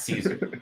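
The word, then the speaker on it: Szczur: But yeah, it's Caesar like the king.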